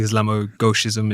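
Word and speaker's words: islamo-gauchisme: of the Islamo left, the Islamogism, if that's how you pronounce it.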